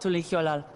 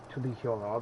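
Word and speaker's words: Tuliyollal: was to know about Tuliolal. Tuliolal. That was pronounced Tuliolal. That was pronounced Tuliolal, but it's pronounced Tuliol. Tuliol.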